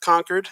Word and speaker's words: Concord: It's pronounced Concord.